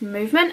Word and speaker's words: MVMT: with movement watches so MV MT is pronounced movement and they are now